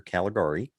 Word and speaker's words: Caligari: gonna check out uh the cabinet of dr caligari yeah you said it right yeah it's uh